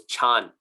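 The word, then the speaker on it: 禪: the mandarin but anyways they didn't pronounce it like mandarin people speaks pronounce it now this was medieval medieval chinese or even older than medieval chinese um it was chan chan chan was how they pronounced him and the japanese couldn't pronounce chan so they pronounced it as zen but many think that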